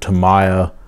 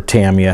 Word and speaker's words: Tamiya: That is from a old Tamiya, or Tamiya, how you prefer to pronounce it, a Tamiya 124 scale plastic model kit box I had since I was younger that I saved.